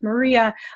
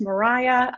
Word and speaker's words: Maria: birth of modern meteorology which if you read it initially you think maria it actually is pronounced mariah which we find out